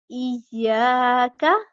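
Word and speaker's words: إياك: الف زبر یا، ای یا، کاف زبر کا، ایاکا، ایاکا اس طرح سے.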